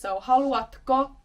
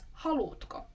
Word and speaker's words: haluatko: "haluatko" peut être prononcé comme "haluutko" - c'est une forme plus courante dans la langue parlée.